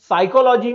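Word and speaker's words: psychology: उदाहरण के तौर पर फिनोमिना में पी साइलेंट है, ऑनेस्ट में एच साइलेंट है, लिसन में टी साइलेंट है, साइकोलॉजी में पी साइलेंट है, वॉक में एल साइलेंट है, नाइफ में के साइलेंट है।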